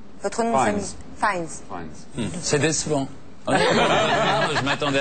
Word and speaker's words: Fiennes: Mais alors, et le nom de famille, se prononce comment, le nom Fiennes. De famille? Votre nom Fiennes. De famille? Fiennes.